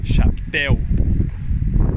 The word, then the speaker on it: chapéu: O word of the day is chapéu. Chapéu. The stress in this word is not in the first syllable, it's in the second syllable. Chapéu.